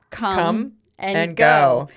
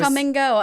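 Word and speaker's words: Kum & Go: Yes, that's called come and go. But it's spelled K U M.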